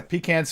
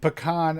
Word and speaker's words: pecan: you know that's actually my favorite of the two different the pronunciations because it both of them sound okay you know pecans fun and pecan I don't know it sounds almost like fancy proper fancy and proper it's like one of my favorite dual pronunciations it's like you're